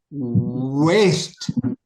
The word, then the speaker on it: waste: WAST is pronounced as waste.